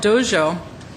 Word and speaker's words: Dezhou: This city, which is called Dezhou, and it's spelled D-E-Z-H-O-U, is interested in being what they call a friendly relations city with the United States.